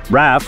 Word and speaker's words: Raf Simons: for RAF Simons however these fashion people pronounce it RAF when asked about how